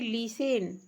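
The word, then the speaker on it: listen: यहाँ देखिए लिसन, लिसन का अर्थ होता है सुनना। इसमें आपका क्या साइलेंट है? आपका टी साइलेंट है।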